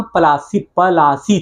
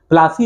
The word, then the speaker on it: पलासी: दरअसल, अब इसको समझ लीजिए, केवल इसको समझ भी सकते अपने से, असली नाम पलासी था। प्लासी ने, जिसे अंग्रेजों ने बिगाड़ कर प्लासी कर दिया था उनके उच्चारण की वजह से।